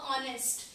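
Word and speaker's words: honest: ऑनेस्ट. H silent होता है, ऑनेस्ट तो ओ का साउंड आ रहा है, तो ओ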